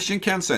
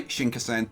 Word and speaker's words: Shinkansen: around a little bit because I want the Shinkansen is going straight into the station but we've